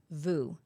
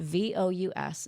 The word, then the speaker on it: Vous: VU. VU. VOUS. It's a French word that just means you.